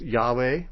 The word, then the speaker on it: Yahweh: be an alternative and when you add certain vowels to these this word can be pronounced yahweh or jehovah or or differently still this name y-h-w-h which we could for convenience call yahweh in my opinion the